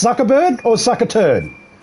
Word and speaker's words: Zuckerberg: And hey, Mark sucker turd. Is it sucker turd, right? Mark sucker turd. That's how it's pronounced.